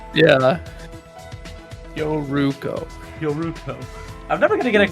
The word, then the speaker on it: Yoruko: Yeah, just remember the first syllable of that is yo, which always makes the yo sound. Like Well, I keep yo-yo. saying like your, like, because that's how it sounds in English, like.